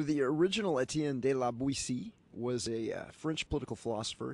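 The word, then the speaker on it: Boétie: It's Etienne de la Buissy.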